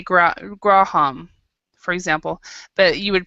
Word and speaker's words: Graham: But most of the time, if the H is in the middle of the word in English, it is not pronounced. So Graham.